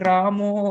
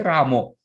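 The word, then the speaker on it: Rama: Hare Ramo, Hare Ramo. I don't have that habit. Some devotees say Ramo. So in Bengali, sometimes the pronunciation becomes O.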